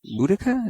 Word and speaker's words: Boudica: Boudica? Is that how you pronounce her?